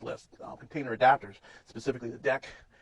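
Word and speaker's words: deque: and a few other containers that use the link list container adapters, specifically the deck. It looks like DQ is pronounced deck stack and Q.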